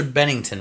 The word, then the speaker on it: Bennington: His name is Chester Bennington, right? Or Bennington or something like that? No, I think you said it right the first time. Bennington, okay.